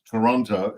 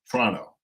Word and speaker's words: Toronto: And he used to tell me all about not Toronto, it's Toronto. Toronto. Got to say it right.